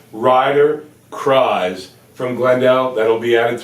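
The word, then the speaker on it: Kriese: This kid's name is, and it sounds like the word rise. It's Ryder Cries, K-R-I-S-E.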